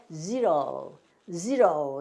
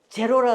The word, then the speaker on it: zero: zero 이렇게 읽어요. 우리나라는 이거를 제로라 그러죠. 제로, 영 없는 거 제로. 야, 그 제로야 그러는데 zero야 이렇게 하시면 돼요.